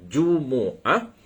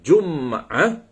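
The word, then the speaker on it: جمعة: Jum'ah boleh dibaca dengan 2 wajah ataupun 3 wajah. Pertamanya kita boleh baca dengan Jumu'ah. Yang kedua kita boleh baca dengan Jum'ah. Yang ketiga kita boleh baca dengan Jumi'ah.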